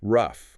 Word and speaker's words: rough: Versus rough. R O U G. Rhymes with stuff.